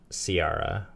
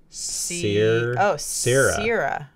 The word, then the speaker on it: Ciara: Not Ciara. Sierra.